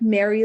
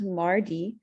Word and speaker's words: Mari Lwyd: into the history so so it looks like Mary Lloyd Mary wood but it's pronounced Mari um in the darkest parts of the Welsh